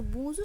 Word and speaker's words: bonjour: তো বোঁজু শব্দটির ক্ষেত্রে আমরা কিন্তু দুটি বিষয় লক্ষ্য করব। এক, সেটা হচ্ছে শেষে আর আছে অর্থাৎ কনসোনেন্ট আছে, তাই শব্দটি সম্পূর্ণ উচ্চারণ হলো না, এবং শব্দটির মধ্যে এন